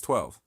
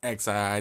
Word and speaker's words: XII: But yeah, XII is how I pronounce it. I pronounce every single letter.